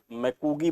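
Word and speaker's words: McGee: बार पूछा जाता है एम सी जी डबल ई मैकगी बोल कहा जाता है इनको चादरी बाढ़ सिद्धांत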